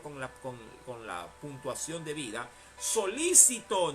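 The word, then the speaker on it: solícito: de joel y jehová solicitó porque hay que leerlo con la puntuación de vida solicitó no solicitó sino solicitó con acento en la y solicitó es decir interesado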